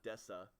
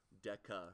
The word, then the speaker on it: deca: Rec this is called Deca Deca okay not Desa Deca it is a hard C and that represents